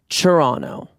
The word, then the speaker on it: Toronto: Canadians, Canada people who live in Toronto, told me that it's pronounced Toronto, like churro.